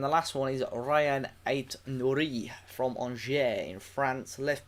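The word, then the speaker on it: Aït-Nouri: It's pronounced really weird, isn't it? That when I heard him say it the other day, it's literally Ryan Ait-Nouri.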